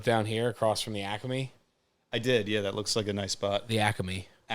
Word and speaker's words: Acme: Guy like you, Acme. Acme. 3 syllables.